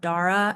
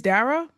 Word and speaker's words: Dara: Dara, we know that your name is Dara and not Dra. And I'm sorry we said it wrong. It's Dara.